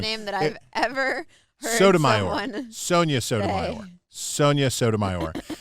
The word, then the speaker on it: Sotomayor: soda Sonia mayor that's that is the worst pronunciation I said it wrong that I've ever heard Sotomayor one Sonia Soto Sonia Sotomayor uh that they